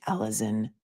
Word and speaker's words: Alizon: actions of one teenage girl, a girl named Alison Device. And her first name is spelled Alizon.